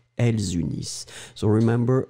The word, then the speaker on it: unissent: Nous unissons, vous unissez, ils unissent, elles unissent. So remember, E-N-T in the end, you don't pronounce it.